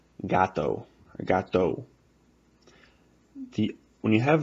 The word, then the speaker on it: gato: So, I'll say it a couple times as it looks like it's pronounced, and then I'll say it a couple times as it actually is. Gato. Gato. That is not how it's pronounced. It would be pronounced like this.